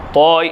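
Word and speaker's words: طاء: தா தா தா தா தாவினுடைய உச்சரிப்பு என்னது நாவின் நுனி முன்பற்களின் மேல்முரசில் படுமாறு நாவை குவித்து உச்சரித்து நாவினுடைய நுனி முன்பருக்களின் மேல்முரசில் படுமாறு நாவை குவித்து உச்சரித்தல் நாக்கை அப்படி மடக்கிடனும் நாக்கை மடக்குனாதான் அந்த குவியல்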